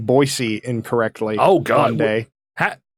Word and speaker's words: Boise: that was a thing it's not Boise no Boise no it's not it's Boise okay hard you have to make a hard C out of that s why did you say